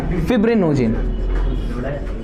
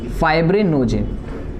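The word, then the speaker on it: fibrinogen: Albumin, albumin, globulin, pronunciation सीख लो, globulin नहीं, और फिब्रिनोजिन, फाइब्रिनोजिन, और तीसरा अदर्स, ठीक है।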